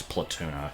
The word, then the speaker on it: Palutena: No, it's Platuna. Platuna. It's spelled Palutena, but it's pronounced Platuna.